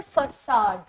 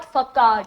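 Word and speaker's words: façade: इसका प्रोनाउंसिएशन है फसाड। Okay, it's नॉट फकाड, इट्स फसाड।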